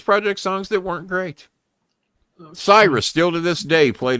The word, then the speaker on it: Sirius: He says the pronunciation is Cyrus, and dumb fucks don't know any different.